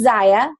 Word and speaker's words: Zyia: is what is it it's SIA rhymes with papaya and I told her